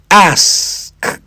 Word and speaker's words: ask: First think of ass, then add the K. ask.